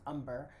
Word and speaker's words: Umber: is umber it's pronounced umber it is spelled amber but it's pronounced umber one of the things